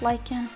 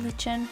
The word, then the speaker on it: lichen: It's pronounced lichen, not lichen, as some people have said.